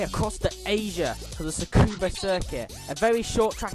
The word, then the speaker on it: Tsukuba: Not Tsukuba, Tsukuba. It's very hard to pronounce, but it's pronounced Tsukuba.